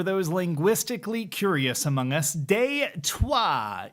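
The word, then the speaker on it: Détroit: And yes, for those linguistically curious among us, deuah is the French spelling Detroit, pronounced in the old tongue, like you're swearing at your transmission.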